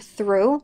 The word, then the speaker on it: through: The word through might be difficult to pronounce. There's only 3 sounds in this word. Th, R, U. And yes, all of these letters make the U sound.